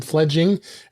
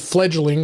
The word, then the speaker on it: Fledging: i did i had i called it fledgling i didn't know why but it is spelled uh f e f l e d f-l-e-d-g-i-n-g so it's fledging um so uh uh